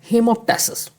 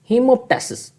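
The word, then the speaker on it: hemoptysis: हेमोप्टेसिस। क्या आंसर है? हीमोटेसिस। कुछ लोग बोलते हैं हिमटसिस हिमसिस भी बोल देते हैं।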